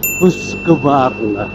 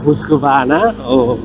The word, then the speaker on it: Husqvarna: Husqvarna. Silent R, Husqvarna.